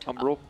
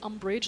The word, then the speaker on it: Umbral: Umbral. Umbral. Umbral. I always want to say umbrage like Harry Potter.